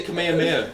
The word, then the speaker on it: Kamehameha: They say Kamehameha, because that's how that name was actually pronounced.